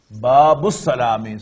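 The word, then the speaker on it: باب السلام: Babus Salami. So this Ba directly joins Lam, and alif is just written but not pronounced.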